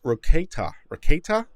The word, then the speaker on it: Rekieta: going on there uh nick pronounced it more like rocket rocket raketa or keita i never actually talked